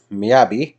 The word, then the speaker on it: Miyabi: here so we've got miyabi not miyagi this is not karate kid it's not mr miyagi miyabi which is vibrant